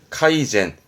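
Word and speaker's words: 改善: 개조 카이저 카이저 개선 발음은 카이젠 조심하셔야 될 겁니다 세니안 됩니다 카이젠 카이젠 개정이죠 발음은 카이세 카이세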